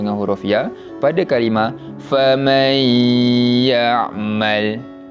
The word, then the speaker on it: فَمَنْ يَعْمَلْ: Nampak cara bacaannya, kita memasukkan bunyi bacaan nun mati kepada huruf selepasnya. Huruf selepasnya yang huruf ya, maka mim baris atas tu masuk pada huruf ya dan dibaca dengan bacaan dengung.